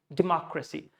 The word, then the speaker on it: democracy: No, it's just democracy. I'm not saying racy. I'm saying rasi, rasi. So I'm just leaving out a. Notation is this way: democracy. All the vowel, all the syllable, all the मात्राएं जिनको stress नहीं करना है, वो schwa sound में convert हो जाती हैं. Means we have to leave them. Don't say racy, just say racy. So democracy.